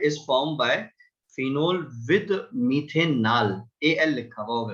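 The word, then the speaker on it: methanal: ठीक है, ये मिथेनॉल नहीं होगा, मिथेनल होगा। थोड़ा सा स्पेलिंग को जरा ध्यान में रखिएगा।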